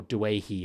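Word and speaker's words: Doueihi: with Justin Olam and Adam dwey or Dei as it is pronounced and I would I'd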